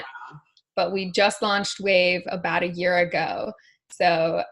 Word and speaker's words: WEYV: So it's spelled WEYV. Yeah. Wave.